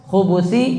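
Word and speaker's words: الخبث: Allahumma inni azubika minal khubi wal khubusi di sini bnya diamah. Nanti ada cara baca yang kedua bnya di sukun.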